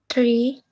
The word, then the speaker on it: three: can you try mka try and say three like with by putting your your tongue in between your teeth three okay try now to